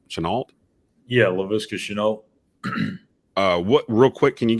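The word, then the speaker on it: Laviska Shenault: How do you pronounce his name? Chenault? Yeah, Laviska Chenault.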